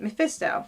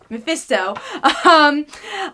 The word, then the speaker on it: Mephisto: I did not pronounce his name right. Mephisto. Yeah, Mephisto. He makes a deal with